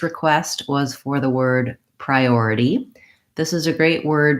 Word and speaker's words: priority: and in this word it's before the or and so that's gonna be my long syllable so I have pry already typically in a longer word the unstressed syllables take about as much time as a stressed syllable so I want to have a bob about a short long short short priority then I of course